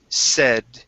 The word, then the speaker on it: said: here is the word said okay now this is going to be a short e sound said one of the voices okay said instead of say said said one of